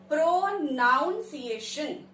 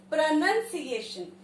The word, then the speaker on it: pronunciation: अब इसकी spelling को अगर हम तोड़ के पढ़ें तो it will be sounding as pronunciation, right? But the correct pronunciation of the word is pronunciation.